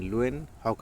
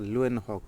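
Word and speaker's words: Leeuwenhoek: देखिए इसमें ल्यूएन लुएन न्यू न्यू करके थोड़ा सा उच्चारण आ रहा है। लुएन हॉक तो अगर एग्जाम हॉल में आए तो आप ऐसे कर दीजिएगा। लयनहॉक जीवित कोशिका का।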